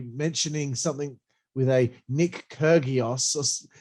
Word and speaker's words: Kyrgios: Wade Barrett trying to be very topical there on commentary, mentioning something with a Nick Kyrgios. He said it wrong. It's Nick Kyrgios, isn't it? It's Kyrgios.